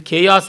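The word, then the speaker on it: Chaos: ಮೊದಲಿದ್ದದ್ದು ಖಾಯಾಸ್ ಅಂತ ಕರೀತಾರೆ. ಅದನ್ನು ಹೇಗೆ ಉಚ್ಚಾರ ಮಾಡಿ, ಅದು ಖೇಯಾಸ್ ಅಂತ ಲೋಕರೂಢಿನಲ್ಲಿ ಹೇಳ್ತಾರೆ. ಅದೇ ಖಾಯಾಸ್ ಅಂತ ಹೇಳ್ಬಿಟ್ಟು ಕರೀಬೇಕು ಅಂತ.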